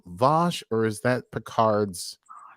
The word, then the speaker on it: Vash: Is Vosh's name Vosh, or is that Picard's accent? Vosh. No, I think it is. Her name Vash. Vosh. I think it's Vosh. Like bath.